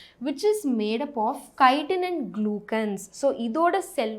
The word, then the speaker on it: chitin: நிறைய பசங்க I have seen them pronounce here chitin கிடையாது, chitin, KI-ன்ற மாதிரி ப்ரொனவுன்ஸ் பண்ணும். ஓகேவா?